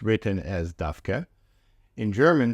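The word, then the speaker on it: דווקא: the standard pronunciation is dka with stress on the last syllable it's often pronounced dka wh the stress on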